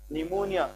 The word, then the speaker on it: pneumonia: निमोनिया का नाम सुना है क्या? नहीं, निमोनिया, तो उसकी भी स्पेलिंग यही है, PNEUMONIA। पी इसमें क्या होता है? साइलेंट।